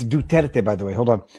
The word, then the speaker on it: Duterte: Duterte. Duterte. Sara Duterte. I presume that's how you pronounce it. Duterte. Oh, okay. I'll Duterte. You have to say it with a very deep accent.